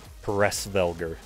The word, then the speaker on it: Hresvelgr: Norse or whatever, but they're called Pressvelger. Hmm. And I'm like, God, that sounds cool. Yeah, it's spelled Hresvelgr.